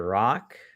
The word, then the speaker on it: Rak: my name is Dr rock that is spelled r a k pronounced r o CK I am a internal